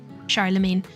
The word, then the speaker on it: Charlemagne: Oh, I'm actually shocked that I was right because I feel like I pronounce everything wrong. Charlemagne.